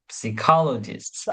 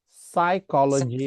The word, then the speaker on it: psychology: But today you have a lot of psychologists. Nope. And today The P is silent. Psychologist, psychology, psychologists you psychological, have etc.